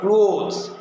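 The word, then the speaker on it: clothes: আর ক্লোথস ইয়ের যোগ করে তখন দ হবে, ক্লোথস।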